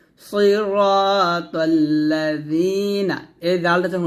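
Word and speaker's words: صِرَاطَ الَّذِينَ: Jerry নুন জবর না সিরাতাল্লাজিনা এই জালটা যখন উচ্চারণ করবেন জিহ্বার আগা সামনের উপরের দুই দাঁতের আগা সঙ্গে লাগিয়ে জালটা উচ্চারণ করবেন নিচের দাঁতে লাগাবেন না সিরাতাল্লাজিনা জিনা এটা বলা যাবে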